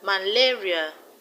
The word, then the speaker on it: malaria: Malaria, the stress is on la.